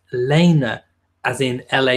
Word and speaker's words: Lena: Nuggets Pelt Lena LP and egg but it's pronounced Lena as in la y na so it's spelled